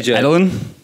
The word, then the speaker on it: Edelen: DJ Edelen? That's how you say your last name? Edelen.